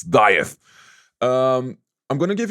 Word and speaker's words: Dieth: up everybody G from dith here yeah the correct way to say the band name it's dieth um I'm going to